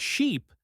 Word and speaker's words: sheep: Ship is short, like the sound in it, but sheep has a long E sound, like in see.